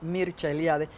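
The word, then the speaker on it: Mircea Eliade: las religiones sea eliade que se pronuncia en rumano porque es rumano mircha eliade que tiene muchos libros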